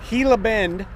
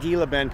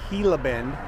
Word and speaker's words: Gila Bend: And across the street, we are in Gilla Bend. Don't pronounce the G, not Gila Bend. People will laugh at you. It's Gilla Bend.